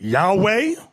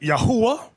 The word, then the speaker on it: Yahweh: Now, depending on your form of Hebrew, you have some people pronounce it Yahweh. Another group pronounce it Yahuwah. We were taught Yahweh.